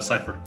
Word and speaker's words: Cypher: I like that you were rhyming Sly. You knew it was I. But yeah, that's spelled with a Y. C-Y-P-H-E-R.